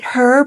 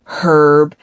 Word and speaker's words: herb: She tries to buy herself time by saying, oh, is it Herb or is it, because you know how the Brits say herb and Americans say herb, like we don't pronounce the H.